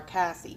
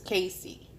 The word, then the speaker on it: Casie: say her name wrong I'm always wanting to call her Cassie but it's Casey now remember at the beginning